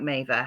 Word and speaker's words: Mavir: on Instagram, Maver, spelled Mavir, spelled like Mavia, pronounced like Maver.